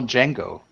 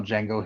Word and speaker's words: Django: doesn't the JSI or the D is silent true story Quentin Tarantino